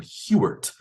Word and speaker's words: Huarte: to win Heisman but he pronounced this name it was h-u-a-r-t-e he pronounced his name hewert uh instead of portrait party to sound more uh Americanized I guess Anglo